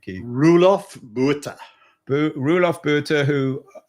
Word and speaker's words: Roelof Botha: How do you pronounce his name, Keith? Roelof Botha.